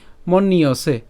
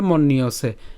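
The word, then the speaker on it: মন্যসে: হবে এবং দন্তসিক কার ঠিক আছে তাইলে তার উচ্চারণ কি মন্নিয়সে মন ইয়সে একসাথে বলে মন নিয়সে এরপর মৃতম তাহলে আমি যদি প্রথম লাইনটি আবার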